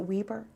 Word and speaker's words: Weber: You even taught classes when you were at, is it Weber? Yes. Is that how you pronounce it?